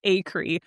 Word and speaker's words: Acree: It's Acree, but it's such a harsh sound. Everybody literally says Acree, and I really should just change it because I think it does sound better.